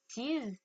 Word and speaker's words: sees: Donc là, comme vous pouvez l'entendre, je prononce bien le S. D'accord? En français, le S est une lettre muette. Le S n'est pas une lettre muette en anglais. Donc, vous entendez bien la différence entre see, sees.